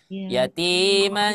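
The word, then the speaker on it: يَتِيمًا: cara membacanya Jangan dijelaskan kalau bacanya dijelaskan itu seperti ini yatiman D maka kita samarkan huruf nunnya yatiman nah seperti itu ya baik kita lanjut kemudian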